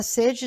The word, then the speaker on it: sede: de vontade de beber a palavra sede deve ser pronunciada com a vogal fechada na primeira sílaba ced por exemplo nesse calor